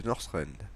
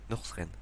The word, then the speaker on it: Northrend: du sud glacées de Northrend. Northrend, c'est pas Northrend, c'est Northrend. Je le prononce très mal.